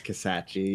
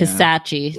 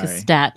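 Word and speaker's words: Kisatchie: Someone called you out on your pronunciation of Kasachi. It's Kasachi. Yeah. Kasachi, not Kastachi.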